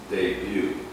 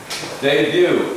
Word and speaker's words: debut: Debut. A debut. A debut. Anybody? Debut? Not to say debut. Debut. Not debut. Debut. More or less like D-E-B-U-E. Debut. This is the spelling, this is the pronunciation.